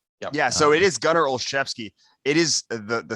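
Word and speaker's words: Olszewski: reconcile with the way that you know it's pronounced yeah so it is gutter olshevsky it is the the spelling of the last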